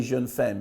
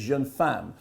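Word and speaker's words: Jeune Femme: film the title of which I keep mispronouncing I want to say Jun fan because I failed my French Oh level three times when I was at school it's young fan Jen fan I know it's young fan but I keep calling it Jen femme anyway however you say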